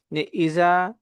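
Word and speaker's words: إذا: ইসরুল্লাহি ওয়ালফাত এখানে আমরা কিছু ভুল করে থাকি ইজা বলে থাকি ইজা ইজা এক শব্দ এটা হচ্ছে জিহ্বার আগা থেকে উচ্চারণ হবে ইজা যখন ইজার উচ্চারণটা করব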